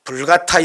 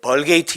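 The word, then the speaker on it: Vulgata: 구약 성경을 라틴어로 번역한 아 불가타 여기 라고 하는데 벌 게이트 여기 라고도 발음하지 요 이불 같아 역을 완성하고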